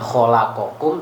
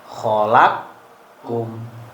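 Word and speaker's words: خلقكم: Jadi dia bacanya khalaqakum, dibaca khalaqkum. Jadi qafnya dimasukkan ke kaf. Tapi ingat-ingat khusus jamak mudzakkar, domir jamak mudzakkar tok. Jadi bukan khalaqakum tapi khalaqkum. Wa adhara, dan ia mengidharkan ma'adaha, selainnya.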